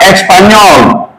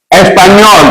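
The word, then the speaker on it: español: But we now have the N with something on top is pronounced as no, no. Just like we have Espanol. Espanol.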